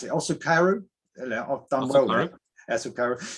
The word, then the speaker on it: Osukaru: Well, Osukaru is the Japanese pronunciation, but we pronounce it the way it's spelled, which is Osukaru.